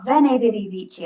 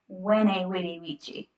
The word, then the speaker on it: veni vidi vici: So you might have heard people say, veni vidi vici, I came, I saw, I conquered, and they pronounce it with a V, a vene. Really, you should say it like vene vidi vici.